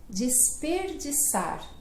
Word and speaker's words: desperdiçar: Desperdiçar. Desperdiçar. Puxa, mas é verdade, né? Porque desperdiçar. Aí tem o di e o sar, né? Que são de S, né?